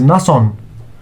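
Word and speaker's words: نصّ: Noon plus sad equals nasson. Na. But this is nason. We have to show that there is a stress, pressure over a sad.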